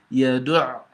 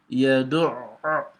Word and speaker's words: يَدُعُّ: And so when you see it on the letter, you've got to assume you're pronouncing the letter twice.